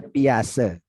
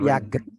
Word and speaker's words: Piaget: Ya, bacanya Piase. Oh, Piase. Bukan Piaget.